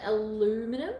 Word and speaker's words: aluminum: smell at all, because some of the aluminum or aluminium, depending on where you live, you pronounce it differently.